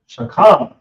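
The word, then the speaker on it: שכם: So the shoulder is pronounced shakam. So we have a sha, then we have a ka, then we have a ma, but these are connected, so we pronounce shakam.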